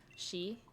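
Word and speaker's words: 四: Because 4 is called the death number in Japan because it can be pronounced the same way as the word death, shi.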